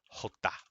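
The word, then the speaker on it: jota: moments ago right so the G is pronounced hey and the uh a j is a hota hota okay all right so I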